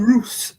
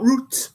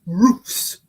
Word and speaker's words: Roos: So Robin Roose is next one, not Roots, Roose.